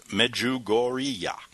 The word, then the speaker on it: Medjugorje: Now, the root of Kranzer's angst lies in the once sleepy hamlet of Medjugorje, pronounced Medjugorje.